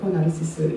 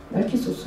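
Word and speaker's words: Narcissus: 그래서 나르시스는 영어식의 발음이고 나르키소스 하면 그리스식의 발음입니다.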